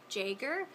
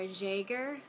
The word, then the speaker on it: Jaeger: Next name, I've heard two different ways to pronounce this. Jaeger, or Jaeger. Kind of like a zh sound.